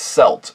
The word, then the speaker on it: celt: Yes, it's pronounced celt.